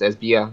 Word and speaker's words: Esbjerg: The same for Esbjerg. It's no G in it. It's Esbjerg, not Esbjerg.